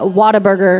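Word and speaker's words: Whataburger: water water Burger water it's spelled what a burger if you're a Texan you call it water burer and it's amazing I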